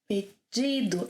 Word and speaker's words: pedido: 'Pedido’, as in ‘jeans’.